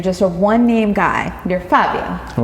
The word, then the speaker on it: Fabio: So it's not Fabio, it's more like Fabio.